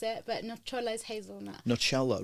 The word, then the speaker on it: Nocciola: So Nocciola, so like the same sound as ciao is in the middle there. Right. Because when people read it,